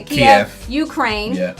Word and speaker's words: Kiev: Kiev.